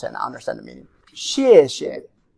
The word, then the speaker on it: 谢谢: Now if you want to say it very formal, 谢谢. You want to emphasize the last one. But it's the regular one is just show you thank you. Second tone could be weaker.